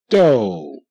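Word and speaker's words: dough: straight okay good do d o do GH is silent okay here again you see the OU the ouu which usually say ow like in house you know or Mouse the ouu is making a long o sound o oh so that's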